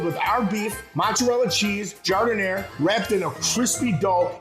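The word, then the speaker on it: giardiniera: at me don't look all nervous and say gardenia it's pronounced jardin air liberals suck that's why we have clay and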